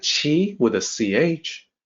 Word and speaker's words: qi: that and maybe say "kwee", you know, thinking question. Sounds maybe like that. But no, it actually sounds like chi with a ch. In the pinyin system, the q is always pronounced like ch.